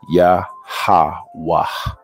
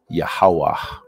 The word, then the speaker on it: Yahweh: So this is the pronunciation that we most commonly use. Okay. We most commonly use this pronunciation, Yahweh, Yahweh.